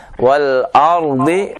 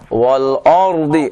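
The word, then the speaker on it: والأرض: dengan sangat jelas ya ketika membaca wal ardhi Bapak membacanya dengan wal ardi o jadinya o ya ini dikarenakan tadi ee fathah yang Bapak buka belum tepat ya jadi dibuka fathahnya wal ardi coba Pak walard iya innahu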